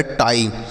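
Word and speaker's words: tie: जैसे टी से ट आई के बाद ई है तो आई का उच्चारण है तो लिखा गया टाई टी आई ई टाई उसी तरीके से डी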